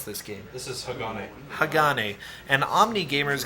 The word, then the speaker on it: Hagane: And now we have a game called, how do you pronounce this game? This is Hagane.